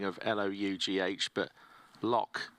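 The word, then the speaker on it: Lough: spelling of l-o-u-g-h but lock is the way to pronounce that as it's it's Irish so Ukraine versus Germany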